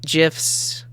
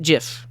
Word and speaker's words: gif: programming culture and funny gifs yes gifs with a is that a soft g or a hard g what jiff not gif jiff so he has like